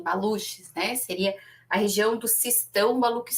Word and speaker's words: Baluch: né que são os baluch Eu não eu não sei pronunciar né em em português ficaria assim baluch né seria a região